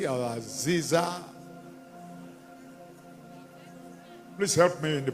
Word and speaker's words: Azazi: that is former General retired general Is it Azazi or Aziza? Please help me in the pronunciation. Huh? Is it Azazi? Azazi. Azazi.